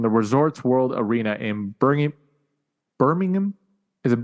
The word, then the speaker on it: Birmingham: Also this past weekend from the Resorts World Arena in Birmingham. Is it Birmingham or Birmingham?